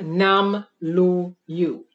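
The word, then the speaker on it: Namlu'u: We were already advanced beings called the Nam-Lu-Yu. N-A-M-L-U with an apostrophe and then a U, pronounced Nam-Lu-Yu.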